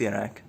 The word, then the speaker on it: Kjerag: Yes, it is pronounced yak.